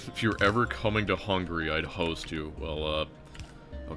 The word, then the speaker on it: Hungary: Isn't pronounced hungry. It's Hungary.